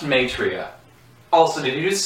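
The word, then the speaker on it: Maitreya: the angel my tra m a i t r a y a Google it it's pronounced matria also did you just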